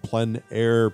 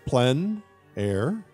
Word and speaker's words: plein air: outdoor painting, often called plein air painting, which is a French term, essentially meaning outdoors. The French pronounce it plein air. Others say plein air, but it doesn't matter how you say it.